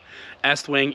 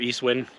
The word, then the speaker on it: Estwing: how you pronounce it supposed to be estwing East Wing everyone calls it Eastwind this one little like